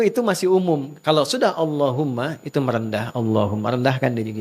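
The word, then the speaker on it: اللهم: Maka adabnya ketika diucapkan Allahumma itu jangan meninggi.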